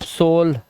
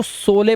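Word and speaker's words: sole: सोले पढ़े, सोले, सोले, लेकिन फिर पता चला लास्ट का ई साइलेंट होता है और दो कॉन्सोनेंट के बीच में ओ आया, लास्ट में ई है, तो इसको ओ से पढ़ेंगे तो सोल हो गया ये।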